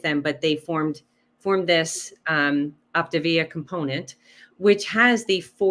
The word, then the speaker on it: Optavia: So tell us a little bit about, is it Optavia? Am I pronouncing it correctly? Optavia. Mamma Mia. Optavia.